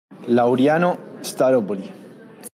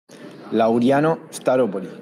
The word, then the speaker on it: Laureano Staropoli: No, that's not at all how you pronounce the first or last name. Let's hear him, though. Laureano Staropoli.